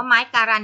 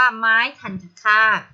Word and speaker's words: ไม้ทัณฑฆาต: ตัว การันต์ นะ คะ ตรง นี้ ใคร อ่าน ว่า ไม้ การันต์ นี้ ผิด นะ คะ ต้อง เรียก ว่า ไม้ คัน คาด หาก อยู่ บน พยัญชนะ